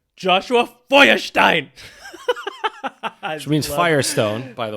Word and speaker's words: Feuerstein: Now, you probably don't pronounce it like that. Probably when not. you pronounce it in the proper German way, it sounds even scarier. Right. Joshua Feuerstein.